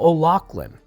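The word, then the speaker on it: O'Laughlen: kind of conspiracy conspirators in this uh michael o'lachlan he was a conspirator in the assassination of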